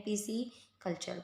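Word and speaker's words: pisciculture: पालन के लिए हम व में कहते हैं पीसी कल्चर पी आई एस सी आई सी यू एल टी यू आरई पीसी कल्चर friends spelling एरन में भी इंपोर्टेंट है वर्ड पसी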